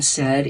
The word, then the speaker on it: said: to draw three lines the first sound I hear in said is s and the last sound I hear is D but the middle sound says e and that's the tricky part it's not spelled like we would think with a short e that's the part we have to learn by heart in this word the sound of e is spelled with an a i and since that's the